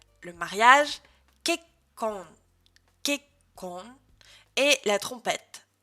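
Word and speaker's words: けっこん: La prononciation. L'écrivain, ça se dira Saka. Journal intime, Nikki. L'échec, Shippae. Le mariage, Kekkon.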